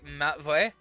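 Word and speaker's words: Matvey: it uh m-a-t-v-e-y uh which is very similar to the english name matthew i died what well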